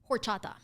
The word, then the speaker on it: horchata: um struggling to say horchata because I didn't know you were supposed to pronounce I mean not pronounce the age yeah I I wouldn't